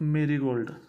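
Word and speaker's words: Marigold: he is what the father of merold not marold its pronunciation is what Mary gold second one is marold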